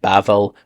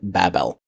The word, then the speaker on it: Babel: few different nuances but you might see it translated bavel or Babel and some people even say this is the Tower of Babel which kind of makes that distinction that's kind of an Americanized pronunciation but bavel would be the closest thing to Hebrew but I like to